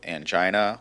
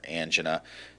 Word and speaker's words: angina: And we'll start with angina, or angina, depending on how you pronounce it.